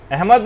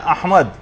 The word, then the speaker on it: احمد: یہ نام آیا ہے۔ یعنی صحیح تلفظ ہے، الف پر زبر ہے، ہا جو ہے وہ ساکن ہے، میم کے اوپر زبر ہے، اور دال جو ہے وہ ساکن، احمد۔ تو بعض اوقات اس